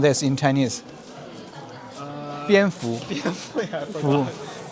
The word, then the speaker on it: 蝙蝠: And many of those palaces are bat-themed palaces, because the bat had the same pronunciation as the happiness or fortune in Chinese. How do you pronounce this in Chinese? 蝙蝠.